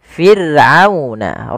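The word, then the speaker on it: فرعون: Kemudian min ali fir'auna, di sini ada huruf ra yang didahului dengan huruf kasrah, maka ra-nya tipis, tidak boleh dibaca tidak, tapi fir'auna, ra-nya tipis, kita namakan dengan ra tarqiq.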